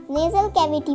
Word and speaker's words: nasal cavity: Nasal cavity warms up the air and give it to trachea. Nasal cavity. The pronunciation is nasal cavity.